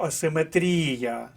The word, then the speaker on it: асиметрія: іде варіант не проходить бо асиметрія четвертий склад хоча хворіти І хоча